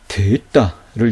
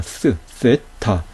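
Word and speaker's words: θῆτα: 예, 오늘날 대부분의 학자, 대부분의 사람들은 이 데따를 스로 발음하죠. 세타 이렇게 발음하죠. 그렇죠? 그런데 이 스라는 발음은 에라스무스가 체계화한 발음법을 따르는 것이고요. 원래 헬라인들의 발음법과는 조금 다른 그런 발음법이라고 할 수가 있어요.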